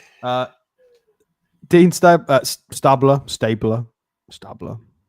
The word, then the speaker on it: Stabler: That's how it's pronounced. Stabler.